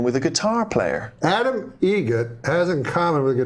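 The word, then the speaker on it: Eget: Adam Egget. Egget. Spelt differently. Like the bird. That's Egret. Do you know what Adam Egert has in common with a guitar player? Adam Egget has in common with a guitar player.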